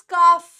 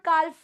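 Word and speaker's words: calf: वैसे ही ये वर्ड गाय का बछड़ा, इट इज काफ, ठीक है, इट इज काफ, इट इज नॉट काल्फ, याद रखना, ठीक है।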